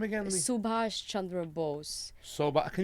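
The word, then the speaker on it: Subhas: what's his name again Subash Chandra Bose so but can you spell that for me Subash su be a sh Subash Chandra CH a n dr a Chandra Chandra which is Bo se like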